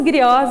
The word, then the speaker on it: griot: Então os griots, né? A pronúncia griot ou Djeli, né?